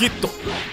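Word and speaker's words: ヒット: Le estoy diciendo mi hijito porque así se pronuncia su nombre en japonés. Hito.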